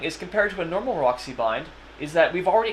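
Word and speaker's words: Maróczy: And this is known as the Marozzi bind.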